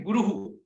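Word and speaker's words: गुरुः: तो गुरु में हम लोग विसर्ग डाल देंगे तो क्या हो जाएगा? वो कैसे प्रोनाउंस करेंगे? गुरुहु, गुरुहु।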